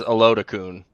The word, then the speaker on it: Oladokun: Chris Oladokun. Oladokun. Or if you pronounce it how the other way I've heard it is Olodokun.